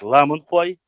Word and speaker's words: ламанхуай: Еще раз повторюсь, есть какая-то гипотеза, которая говорит, еще раз, говорит, что ламрой и ламанхуай, правильно говорить ламанхуай, хуай стражники, ламан стражники гор, те, кто живет в горах, а рой использует, это больше лингвистический анализ, опять же, это гипотеза.